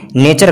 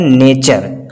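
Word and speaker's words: nature: होगा तो जैसे कि नेचर का होगा। अगर टी के बाद यू आर ई आ रहा है तो वहाँ पे वर्ड का जो प्रोनाउंस उच्चारण होगा चे जैसा निकलेगा।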